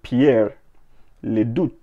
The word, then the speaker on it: Pierre Leduc: Based on a design by Canadian artist Pierre Leduc, so I believe his name is pronounced, or let me say spelled, P-I-E-R-R-E space L-E-D-U-C, so Pierre Leduc or Leduc, whichever one.